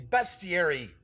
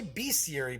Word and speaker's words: bestiary: an ad for the best thierry or as some people say be Siri but he's calling a bestiary and people would comment on my video saying you're not pronouncing it right man it's best Thierry so that is the